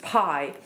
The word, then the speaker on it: bi: pronounced um it's spelled bi I but it's pronounced Pi so this was a ritual object um pie